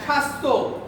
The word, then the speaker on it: স্বাস্থ্য: স্বাস্থ্য। বফলার উচ্চারণ হয়েছে? না। মানে শব্দের শুরুতে বফলা আসলে উচ্চারিত হবে না, কিন্তু যদি মাঝে বা শেষে আসে উচ্চারিত হবে।